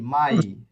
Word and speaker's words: mai: mia mai মিয়া না, mai এম এ ই, মাই। mai e এটা কিরকম হবে আপনি, দেখলাম প্রথম হচ্ছে এটা ভুল করছেন, এটা এই উচ্চারণটা কিরকম হবে আমি একটু দেখাই, জাস্ট আ মিনিট।